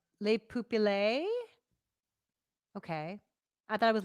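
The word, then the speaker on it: Le pupille: yeah it's weird the mic Webb says is pronounced Le poopy lay okay I thought it was Lupa peel okay I believe you um and Bradley says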